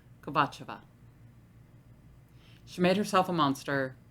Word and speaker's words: Kovatcheva: I looked up how to pronounce this name. I did. I got like 3 different answers. I'm going with Kovatcheva.